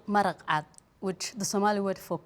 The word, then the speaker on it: maraq cad: And how do you pronounce that, or what's the name of that in Somalia? It's called maraqat, which the Somali word for clear and white is the same.